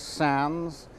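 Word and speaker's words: Sandys: Margaret clithero Edwin sounds sa n dys pronounced sans who was made Archbishop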